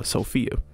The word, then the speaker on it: Safiya: i named her uh safiya which is spelled s-a-f-i-y-a but it is pronounced for a lot of people uh sophia so that's kind of